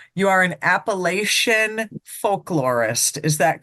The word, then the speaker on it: Appalachia: Apple at you so we say Appalachia is it different in